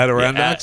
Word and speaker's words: Adirondacks: Adirondacks.